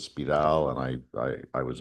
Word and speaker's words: Spyral: Uh I should say spiral is a perfectly good pronunciation. Uh uh Stefan Sinclair was franophhone so he tended to sort of pronounce as spidal and I I I was infected by that.